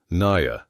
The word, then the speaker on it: Naya: "I'm Star," she said, "and this is my mama, Naya." She pronounced it Na-ya, the Apache way, and there was pride in her voice despite everything they had endured.